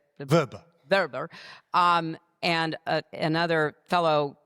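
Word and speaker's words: Vrba: Verbber Verbber.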